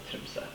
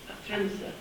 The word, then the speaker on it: Tromsø: I never know what that vowel is at the end. Yeah. But it's not stressed, so Tromsø. Tromsø. Tromsø.